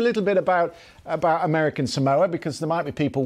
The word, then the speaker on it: Samoa: place to focus and notice that pronunciation everybody pronounces it a little bit wrong than the locals actually prefer Samoa s okay yeah exactly uh you know this